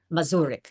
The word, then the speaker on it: Muric: Oh, you are playing Lydia and I hope I pronounced the last name correctly. Murik. Muric.